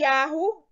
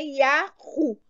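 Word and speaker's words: יהו: Esses dois exemplos mostram que a pronúncia do trigrama é Yahu. Não tem dúvida que é Yahu.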